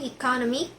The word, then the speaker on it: economic: Number two, economic. The suffix is IC moves the stress from economy first syllable to economic third syllable.